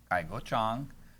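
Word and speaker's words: 蔡国强: Cai Guoqiang. I'm trying to correct the pronunciation, but you know what?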